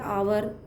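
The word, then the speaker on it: hour: Start हो रही है, आवर और ऑनेस्ट, दो हैं जिनकी जो आवाज़ है, साउंड है, वो कैसी आ रही है, वोवेल जैसी आ रही है, क्योंकि एच उसमें साइलेंट रहता है तो वहाँ भी हम एन का यूज़ करेंगे।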